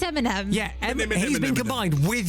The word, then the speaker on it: Eminem: Eminem. Yeah? Eminemini. No, it's not Eminemini.